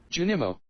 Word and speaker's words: Junimo: from stardew valley jinamos jujulus how do you pronounce that junimo i got it right the first time so